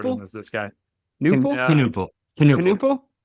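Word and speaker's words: Knueppel: Knuppel? The K's there. Con Knuppel. Yeah, that's right. That sounds more right.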